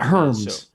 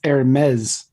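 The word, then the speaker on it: Hermès: and hermes hermes hermes it's not herms which is how it's spelled it's hermes yes and the various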